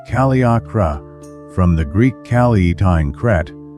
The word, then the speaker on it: Kaliakra: Cape Kaliakra, pronounced Kaliakra, from the Greek Kalietine Kret, is a long